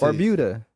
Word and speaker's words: Barbuda: You said the way we looked it up, and it's Barbuda. You said the way it's spelled. That's Barbuda. Barbuda.